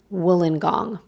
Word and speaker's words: Wollongong: for some of you and we're landing in wollongong thanks to the subscriber from australia that corrected the way it was pronouncing it thank you wolingong it's a large coastal city located south of